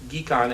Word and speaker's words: Ghecon: global health economics consortium which I prefer to pronounce geek on as in get your geek on your economist will understand